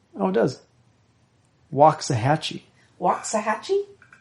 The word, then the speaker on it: Waxahachie: Does it have a pronunciation? Oh, it does. Waxahachie. Waxahachie? Waxahachie, yep.